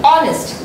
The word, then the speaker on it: honest: But H again is a silent letter. So we do not say honest, we say honest.